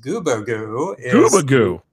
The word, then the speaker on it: Gubagoo: gear uh guba squads uh so yes it's goobagoo is the correct pronunciation we're very we're very accepting of alternative